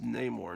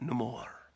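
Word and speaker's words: Namor: creations um what if had joined joined the Fantastic Four notice that it's pronounced name or not nemour no more my name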